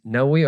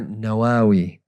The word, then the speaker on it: Nawawi: So he's Nawawi or Nawawi. Both are correct pronunciations of his name, radiallahu anhu.